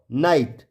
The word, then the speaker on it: night: यहाँ पे न आई ट नाइट, ट आई ट टाइट, म आई ट माइट और ल आई ट लाइट। इन सब में GH कैसा हो गया साइलेंट हो गया।